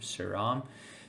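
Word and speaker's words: Sriram: song I think sidam pretty sure that's how you say it s r i r m suram Sid saram I think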